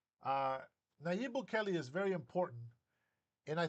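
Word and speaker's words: Nayib Bukele: I hate it when people mispronounce his name. Uh Naib Bukelli is very important and I think that he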